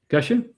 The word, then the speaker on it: cache: always forget you know I don't know how to pronounce Cashache or cash? Yeah. Cash. Cash. Cash.